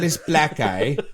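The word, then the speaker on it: Gigantopithecus blacki: The word that you're gonna have trouble with is pronounced Gigantopithecus blackeye. Why is it traditionally Gigantopithecus blackeye?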